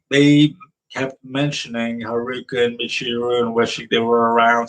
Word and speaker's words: Michiru: But also I think Ray's English voice actor might have misspoke because it sounded like she was saying Michuru instead of Michiru.